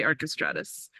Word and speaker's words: Archestratus: link in the chat it's archestratus or it's however you want to pronounce it um but I say archestratus yeah and in other